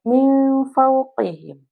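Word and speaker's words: من فوقهم: Contohnya, di sini ada kalimat min fauqihim. Di situ ada nun sukun bertemu huruf fa, maka dibacanya nun sukunnya menjadi min. Min, suaranya seperti gitu.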